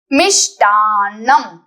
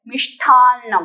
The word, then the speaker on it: मिष्टान्नम: मिष्टान्नम, this is half न followed by complete न, मिष्टान्नम। बहुत लोग इसे ट को ठ बोलते हैं, मिष्ठान्नम, वो गलत है।